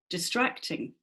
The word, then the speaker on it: distracting: which one is it which is the strong syllable distracting mm-hmm yeah everybody's agreeing it's number two syllable emphasis where we where